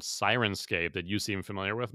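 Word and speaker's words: Syrinscape: thing and you linked through a site called siren scape that you seem familiar with my yeah so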